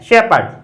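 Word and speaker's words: shepherd: ए की मात्रा से, पै, ए, डे, शेपर्ड। उसके बाद आता है पी साइलेंट कहां रहता है, अर्थात कहां ये लिखा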